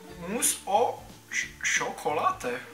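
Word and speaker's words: mousse au chocolat: a naleju do toho vyslovuje se to mus o čokolá Hele tak jsem to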